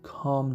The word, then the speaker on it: calm: now L is silent L is silent so we say calm down so Cal calm down